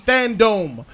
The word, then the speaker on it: Fandome: about that goddamn DC Fandome. Fandom. I don't really know what to call it, but it's spelt like that. I think we're supposed to just say fandom, but spell it that way.